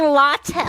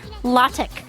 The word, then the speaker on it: LaTeX: L as in lie. A as in father, law. T as in tie. E as in dress. K as in kind, law, Let's let tech.